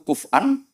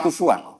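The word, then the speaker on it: كُفُوًا: Harusnya kiro'ah masyuroh itu walam yakullahu kuf'an ahad bil hamzah. Dan rata-rata kiro'ah sab'ah bacanya kurok sab'ah bacanya walam yakullahu kuf'an, bukan kufuan. Tapi orang Quraisy itu yubaddilu nal hamzata wawan ba'da dhammi. Sehingga kufuan menjadi kufuan.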